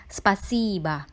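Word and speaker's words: спасибо: Contoh pada kata yang ditulis spasibo. Terdiri dari 3 suku kata spasibo. Udarenye terletak di huruf I pada suku kata kedua dan dibunyikannya lebih panjang. Sedangkan huruf O di suku kata terakhir yang tidak memiliki udarenye harus dibunyikan dengan A. Jadi untuk kata ini kita membacanya spasiba, yang artinya terima kasih.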